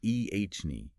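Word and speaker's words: Eithne: are rooted in history MH that's true like itne oh yes pronounced ehne which is a variant of the name eany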